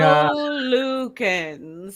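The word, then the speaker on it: Talokan: And Tolukens, so 3 syllables.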